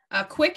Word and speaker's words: CWC: Quick is spelled CWC, which stands for Christian Weston Chandler.